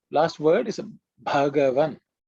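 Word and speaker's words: भगवान: Pay attention to the first letter, which is Bha, which sometimes people may not pronounce as Bha. People tend to sometimes pronounce as Ba, Bhagavan. No, it's Bhagavan.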